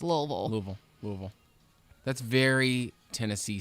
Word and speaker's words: Louisville: to how far is louisville away louisville about about two hours okay louisville what do people there pronounce the name of the city do they pronounce louisville louisville louisville like two syllables but out of towners